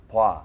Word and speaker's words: 봐: If you're having trouble with the pronunciation of 봐, then think of it as BWA, 봐. It's Right. kind of an in-between pronunciation between O and A.